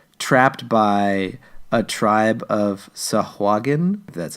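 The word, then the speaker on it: sahuagin: I were essentially trapped by a tribe of sahagun that's how you pronounce it oh well well okay so if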